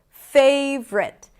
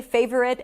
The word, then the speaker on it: favorite: You can totally say favorite and it's going to be legit. But if you listen to people say it, you'll notice that people usually pronounce it in two syllables rather than three.